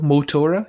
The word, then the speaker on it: Motora: behind this great game and also did I pronounce a right column that's definitely me and I think so mo Tora yeah I think you got it right okay